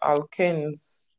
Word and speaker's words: alkanes: So the pronunciation of that word is alkanes, because when we get to alkynes, it will also be there.